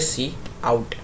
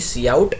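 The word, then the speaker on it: cout: कहते हैं सी इन अब इसके प्रोनाउंस की बात करें तो हम लोग इसे कहते हैं सी इन और इसको हम लोग कहते हैं सी आउट ठीक है सीओ यटी यानी सी आउट और इसको हम लोग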